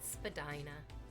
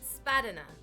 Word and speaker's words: Spadina: a very popular street it's called Spadina Spadina excellent Spadina unless you are using using Google Maps in which case then it's spaten spat turn left on spat it's like no it's Spadina it's Spadina rhymes with vagina vagina that's right B